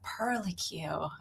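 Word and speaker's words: purlicue: But you pronounce it like you would curly Q and I'm like it's a pearly quue and it's just one of my favorite words.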